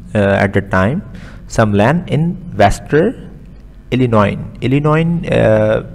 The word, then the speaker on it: Illinois: Some land in Western Illinois. S is silent over here. It's the name of the place.